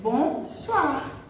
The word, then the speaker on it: bonsoir: Mas OI em francês, essa junção de vogais O com I, faz som de UA, UA. Então toda vez que vocês verem OI juntinhos dentro de uma palavra, vocês vão pronunciar UA. Ok? Então, por isso é bonsoir, bonsoir, certo?